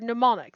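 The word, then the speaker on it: mnemonic: WX Y and Z same Greek root as the word pneumonic the m is silent in her bag maran's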